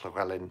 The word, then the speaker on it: Llewellyn: And so I double checked, you know, the Welsh would pronounce the Llewellyn Tarot as the Llewellyn Tarot, because the double L is a cl sound.